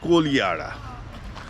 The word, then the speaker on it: Kodihara: It is written Kodihara, but pronounced Kolihara.